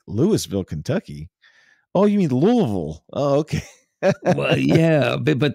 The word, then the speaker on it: Louisville: um in Kentucky the city of Louisville it's pronounced Louisville but it's spelled like Lewisville and so you have people come in from out of town they go where's Lewisville Kentucky I'm like Lewisville Kentucky Oh you mean